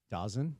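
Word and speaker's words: DAZN: You know how you pronounce it? Dozen.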